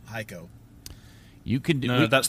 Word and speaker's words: Hico: him from hico texas which i thought was called hicko until today when i learned it's called haiko you can do no